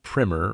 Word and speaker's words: primer: And if you were wondering, no, I'm not mispronouncing primer. That's the white stuff you put on your walls before you paint them. A primer. That's a British word. It's an introductory textbook for learning the basics of something and laying the foundation.